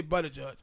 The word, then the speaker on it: Buttigieg: Yeah, Buttigieg.